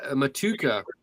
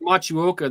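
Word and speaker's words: Motueka: Matuka, but it's pronounced Machuoka.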